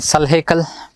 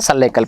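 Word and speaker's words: Sulh-i-kul: Then again Salhekal, Salhekal, some pronounce as Sulekal also.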